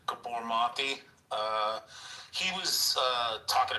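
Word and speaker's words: Gabor Maté: So is there some connection or so like if you listen to like I think his name is pronounced like Gabbor mati.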